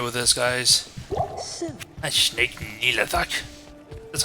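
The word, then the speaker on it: Nihlathak: That's Snake Nilathak. That's how you pronounce it. Nilathak.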